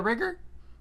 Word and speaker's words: rigger: do you call is that a rigger uh it rhymes with rigor but I mean what